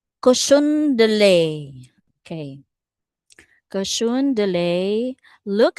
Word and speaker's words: cochon de lait: The little cochon del sorry, how do you say that? Cochon de lait.